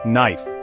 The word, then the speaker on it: knife: consider the English word knife the K is silent a relic of its Germanic Roots the GH combination is